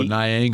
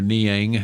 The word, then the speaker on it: Niang: You can go Niang or Niang.